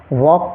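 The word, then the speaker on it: walk: पढ़ेंगे हाफ ऐसे ही डब्लू ए एल के इसमें एल साइलेंट है इसको हम वॉक पढ़ेंगे वॉक बी ए एल एम इसको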